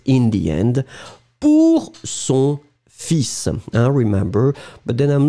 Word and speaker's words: fils: but in this situation, we really pronounce the S, and strangely, we don't pronounce the L, hein?